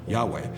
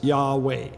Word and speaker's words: Yahweh: And we don't know 100% sure what those vowels might be, but it's presumed that it would be pronounced as Yahweh.